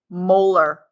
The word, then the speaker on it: molar: Now this capital M we don't say m we don't say moles per liter. This thing is pronounced molar.